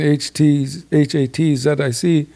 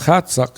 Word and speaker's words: Hatzic: She said, when you read it the way it's written, Hatzic, you're saying measuring the genitals. But the original name is Hatsuck, and she said Johnny Leon from Chehalis was the one that told her.